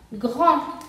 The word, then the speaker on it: grand: Grand termina con una D, entonces no se pronuncia la D final. Entonces, esta palabra se pronuncia grand.